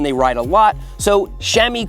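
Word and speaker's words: chamois: Even experienced cyclists do get sore when they ride a lot, so shami cream can help. Yes, that is how Shami is spelled.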